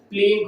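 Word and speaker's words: spleen: प्लीन को कहा जाता है। क्या चीज को कहा जाता है? प्लीन को, जिसका ये इंग्लिश नेम हो गया एस साइलेंट हो जाता है, इसलिए प्लीन बोला जाता है।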